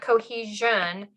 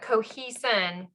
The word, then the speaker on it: cohesin: some sticky proteins called cohesin proteins not cohesion but cohesin proteins so these are some